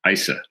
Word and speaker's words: ISA: is instruction set architecture often abbreviated isa and sometimes pronounced isa it's the most important